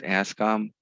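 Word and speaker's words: Anscombe: So the ranges make a difference, and this graphic represents 4 data sets by Francis Ascom. You don't pronounce the E.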